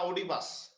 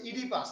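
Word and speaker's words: Oedipus: ইডিপাস রেক্স ইডিপাস রেক্স এটা আবার অনেকে ভুল করে উচ্চারণ করেন না ওডিপাস এটা হচ্ছে ইডিপাস এই ও এর উচ্চারণটা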